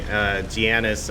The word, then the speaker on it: Giannis: Giannis, I think, is how his first name is pronounced.